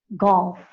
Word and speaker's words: golf: LF where it's sounded where the L is sounded golf I am pronouncing the l so go L and